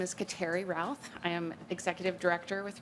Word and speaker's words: Routh: Next, we'll hear from Kateri Ruth with Great River Greening. Apologies if I mispronounced. Good morning. No apologies needed. My name is Kateri Routh.